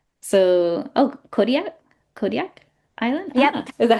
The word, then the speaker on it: Kodiak: Kodiak Island. Is that how you pronounce it?